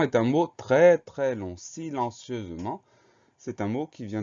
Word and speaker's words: silencieusement: Le son Z s'obtient avec le S puisqu'il est entouré de deux voyelles.